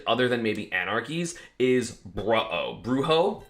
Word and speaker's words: Brujo: But probably the biggest run of the tournament, other than maybe Anarchy's, is Bruho. Don't know how to say his name. I think it should be pronounced Bruho, because I think that's funny.